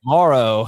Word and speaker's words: Moreau: month and then uh Foster how do you pronounce last name Morrow all right Foster Moreau um when he's taking on the Seahawks you